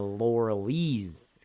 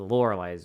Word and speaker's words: Loreley: watched the lorelei's grasp I kept saying the lauralee's grass because the way it's spelled but no it's the lorelei's grass from 1973 oh boy